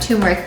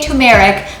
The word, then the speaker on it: turmeric: of a teaspoon of turmeric powder i'm pronouncing it properly now i said turmeric for the longest time because that's just how i learned to say it i was saying tumeric but we don't know